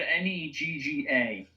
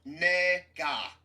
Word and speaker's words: Negga: I said Negga. Say Ninja. Ninja. Oh my god. I'm sorry. Did I really did accidentally say that? Like, No. No, It's look, Ruth Nega. That's how you pronounce her last name.